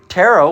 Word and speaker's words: tarot: It's pronounced tarot, but it has a t.